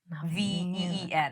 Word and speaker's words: Noveen: So I'm like, it's Naveen Nahveen for like pronunciation.